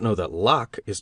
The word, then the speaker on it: Locke: I read Hume and Locke, and partly understood them, I think, though I did not know that Locke is pronounced in only one syllable till many years after I read and reread parts of the human understanding.